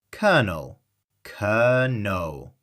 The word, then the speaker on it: colonel: 2 syllables, stress on the first. Let's practice. Kernel, kernel.